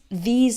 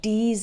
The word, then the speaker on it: these: When I hear someone pronounce these and those with a D sound, like D's and does, or pronounces think like sink, that's a giveaway.